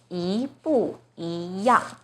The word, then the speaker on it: 一不一样: Now the first E is followed by a 4th tone 不, So the first E itself should be the second tone. 一不一样. So problem solved. This phrase is pronounced as 一不一样.